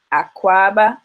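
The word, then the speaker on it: Akwaaba: airport you see a big akuaba sign which is spelled a k w a baa aqua baa okay and we're gonna go over some of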